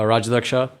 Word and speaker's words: Rajadhyaksha: assume i've said your last name correctly uh rajalaksha yep is that yeah well so but the